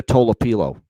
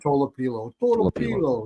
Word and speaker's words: Tolopilo: But I went to the pronunciation guide. It's Nikita Tolopilo. That's how you say it. Tolopilo.